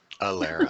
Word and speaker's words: Ilera: the folks at and correct my pronunciation alehrer or I'll era I Elara Alera like with an a yes that's fine I can't the canna